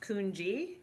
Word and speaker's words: Kungi: thank you so um my last name is typically pronounced kungi because my husband was from TR is from Trinidad so okay but um